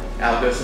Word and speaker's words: Algo Sincera: It is the Algo Sincera. Algo Sincera. Did I pronounce that? You did.